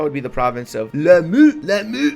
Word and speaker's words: Lamu: That would be the province of Lamu. That's exactly how you pronounce it, in case you're wondering.